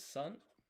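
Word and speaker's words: 三: Three is san.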